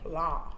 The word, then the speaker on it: Blanc: Blanc. Blanc. I love that. The N and the C is silent. French.